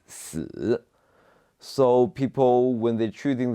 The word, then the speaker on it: 死: So the number you should avoid is number 4, because in Chinese, number 4 pronounced 4, and which is very similar to the pronunciation of death, which is 死.